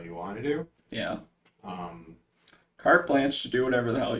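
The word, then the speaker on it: carte blanche: then in general though did I not pronounce that right no you pronounced it right I think cart cart blanch cart blanch we're not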